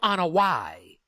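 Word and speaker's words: Anoa'i: joe in hawaii and well everybody pronounces that wrong including bully ray it's i don't know why that's the correct pronouncement look at that joe ana y samoan family bingo samoan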